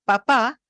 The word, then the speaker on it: papá: para comer y que papá me signifique otra cosa? Bueno, la primera es papá. Fíjense que en la segunda sílaba es más prominente que la primera porque hay un cambio en la F0.